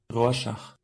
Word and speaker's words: Rorschach: Alors effectivement, c'est plutôt une prononciation allemande qui propose. Alors, écoutons bien, tous ensemble. Rorschach. Ok, il propose une autre prononciation. Rorschach. Rorschach. Bon bah ils disent tous Rorschach, hein. Alors bon bah écoutez, ça doit être ça, hein. D'après les prononciateurs allemands, voilà, c'est Rorschach du coup.